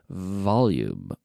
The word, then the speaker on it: volume: you'll know this that the V is essentially an F with the vocal chords activated so we start with the F we add the vocal chords we have very good V victory in Valencia very good V very good volume volume in volume please never say volume if you if you pronounce it as a be a native English speaker probably won't understand what you're saying because